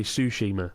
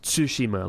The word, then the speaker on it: Tsushima: I say it I 90% of people say sushima right as though it's some sort of Island comprised of sushi when it is tsushima like tsunami so yeah